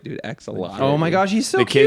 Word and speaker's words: axolotl: axolot. That's what I'd want to be. Axolotl? Axolotl. Yeah, that thing. Yeah. Yeah, say it right, dude. Axolotl.